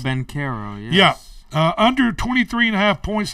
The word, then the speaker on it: Banchero: In the NBA, Orlando Banchero, is that the way you Paulo pronounce it? Banchero, yes.